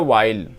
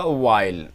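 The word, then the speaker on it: while: ये जो लिखा है ये बोला जाता है वाइल, इसमें एच साइलेंट है, इस तरीके से बोला जाएगा वाइल, इसको याद रखिएगा, ये वाइल बोला जाता है वाइल।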